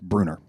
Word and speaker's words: Bruner: former CEO, Kevin, and I believe it's pronounced Bruner. Some of you may know him or know of him or have heard that name, but that's how I understand it's pronounced.